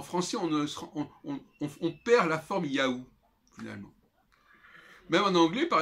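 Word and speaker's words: יהוה: On sait qu'il y a eu différentes propositions, Jéhovah, Yahvé notamment. En réalité, la forme la plus probable de prononciation, c'est Yahou. Alors, qui fait penser effectivement à cette boîte mail, Yahoo.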